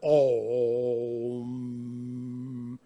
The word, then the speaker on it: Om: This is a symbol written Aum, but you pronounce it Om.